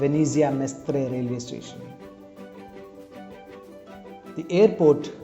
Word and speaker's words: Venezia: city in northern italy venice is pronounced as venezia in italian incidentally my neighboring district